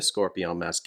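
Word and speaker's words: Scorpion Masqué: from scorpion Masque L scorpion Masque if you want to pronounce it somewhat in French it's a two-player Cooperative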